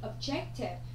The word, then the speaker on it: Objective: Objective, nó sẽ là trọng âm dêm tiếp thứ hai.